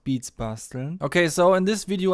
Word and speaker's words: Beats Basteln: I'm sometimes asked how it's pronounced. It's pronounced Beats Basteln.